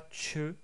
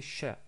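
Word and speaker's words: ش: En termes de prononciation, c'est aussi facile car c'est l'équivalent du son CH dans la langue française. Donc c'est exactement pareil. En anglais, on l'aurait écrit plutôt avec un SH. Donc c'est pas che, c'est cha, comme en français.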